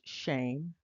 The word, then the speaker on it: Shem: of these names uh the first name is pronounced shame the second name is